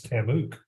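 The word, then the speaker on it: TAMUK: We pronounce our institution as Tamook as a result of that.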